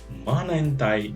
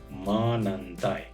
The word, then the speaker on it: Maanantai: Maanantai means Monday. Maanantai. It comes from the word ma, meaning earth. Repeat after me. Ma, nan, tai.